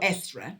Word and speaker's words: Eostre: this, Easter Monaf, or Estre month, after the goddess Estre, spelled Eostre.